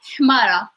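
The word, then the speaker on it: حمارة: No, it's like with the number 7. It's ha, Hmara.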